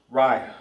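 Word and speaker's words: רע: Ry Ry. R I Ry. Short short and to the point. Bad in Hebrew is ry cuz you can't say r i because there's no a right there.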